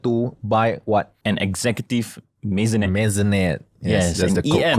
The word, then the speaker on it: maisonette: An executive maisonette. Maisonette. Yes, that's the EM. correct pronunciation.